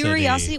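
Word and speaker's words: Qriocity: Curiosity. Well, it certainly is spelled weird for me to say Curiosity.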